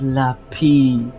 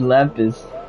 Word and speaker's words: lapis: he was like it's lais like why did you say it like that like it's not the Spanish like it's just lapis lais has has distract